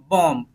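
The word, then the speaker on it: bomb: रखना है नहीं बोलना इसको बम नहीं बोलेंगे बम बोलेंगे बम बम क्या बोलेंगे बम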